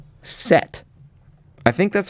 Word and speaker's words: Set: We got confirmation from Pagansong that I pronounced it correctly.